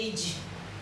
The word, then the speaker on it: èjì: Also 3 syllable. We also have the 2. This is 2. Èjì.